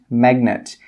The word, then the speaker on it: magnet: But there are always exceptions to the rule, and some common exceptions are the words signature and magnet. In these two words, we do pronounce the G sound.